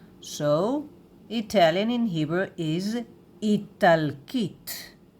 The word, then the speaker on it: איטלקית: So, Italian in Hebrew is Italkit. Italkit. All of a sudden, we have here the sound of K. K. Yes. Italkit. Italkit. Italkit.